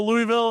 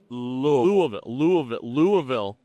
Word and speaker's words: Louisville: Louisville. You have to say it like you have a bunch of marbles in your mouth and a 7th grade education.